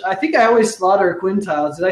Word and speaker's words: Quintiles: She's the CEO of Encore, a Quintiles Company, which I think I always slaughter Quintiles.